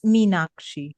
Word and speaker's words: Meenakshi: It's actually Sanskrit, which is why it's slightly difficult to pronounce, but it's Meenakshi.